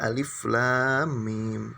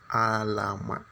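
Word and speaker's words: الم: Tidak dibaca alif lam mim, tapi dibaca alama.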